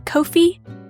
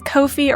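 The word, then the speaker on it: Ko-fi: actually just opened a Kofi I don't know if it's Kofi or coffee but it's spelled with a K so I'm going to say Kofi but yeah the money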